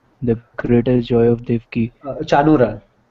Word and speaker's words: Chanura: destroyer of Kamsa and Kanura, the greatest joy of Devaki. Chanura. This is Chanura, but it's just the way it's spelled.